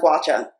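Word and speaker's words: gua sha: a guacha from aoa guasha or i think it's pronounced guacha and it's a jade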